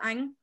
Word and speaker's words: Anh: The person whose name is, D-U-C-A-N-H. How do you say that? Okay. So Duke is middle name, so I think you can just use his first name. So you call Anh.